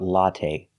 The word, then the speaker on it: latte: let's talk about latte we say latte we don't say latte the last syllable is the long a it's not stressed but we use the long a like say and pay latte make a long sound not the short latte but the long a latte the first syllable ah latte it's the